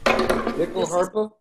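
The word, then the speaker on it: nyckelharpa: They say it more like Nyckellharpa, but it is spelled Nyckellharpa.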